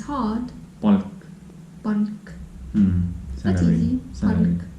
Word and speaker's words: palk: If you just randomly say, let's say this Palk, Palk. palk, Palk. so soft. Palk.